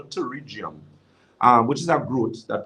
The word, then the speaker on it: pterygium: That's something called pterygium. It looks like a piece of flesh. Yeah. Yeah, that's something they call it pterygium. It actually spelled with a P.